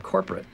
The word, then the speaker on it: corporate: His pitch rises on the stressed syllable core, which results in the following rhythm. Ma'am, this is from corporate. Ma'am, this is from corporate.